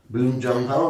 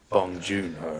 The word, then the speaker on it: Bong Joon-ho: Again, I would want Boon Joon-ho, right? Bong Joon-ho.